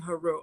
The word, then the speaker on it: Haru: use those terms, but the Medu Neter clearly has it written to pronounce it as Asar, Aset, and Haru.